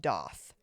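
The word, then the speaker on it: daith: okay I I say da I know it's it's a the piercing is spelled D AI t h okay apparently it's pronounced doth doth I don't know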